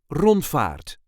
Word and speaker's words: rondvaart: There is a light emphasis on the first syllable. Rondvaart. Rond-vaart. Rondvaart. You do not really need to roll those R's. If you can't, that's not a problem. Without rolling your R's, it will sound like this.